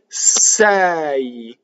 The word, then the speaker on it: sei: Sei. Right? This doesn't rhyme with the English word say, to say, right? It's two separate vowels with a semivowel, right?